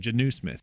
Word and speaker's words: Jonnu Smith: That's apparently how you say it, Jonnu Smith. I don't know. I've been watching the games and all the announcers keep saying Jonnu Smith. I always thought it was Jonnu.